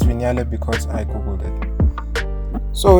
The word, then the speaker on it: Vignale: And yes, it's pronounced Vignale because I googled it.